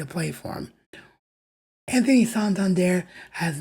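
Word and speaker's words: Santander: to be honest I'm not sure how you say it because I've heard it said both ways so if he does sign with the team hopefully we can get a definitive answer on whether it's santand there or sand but all I know is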